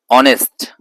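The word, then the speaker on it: honest: दी एमएल ए दी ऑनेस्ट एच से start हो रही है स्पेलिंग लेकिन ध्वनि आ रही है अ ऑनेस्ट इसीलिए इसको दी ऑनेस्ट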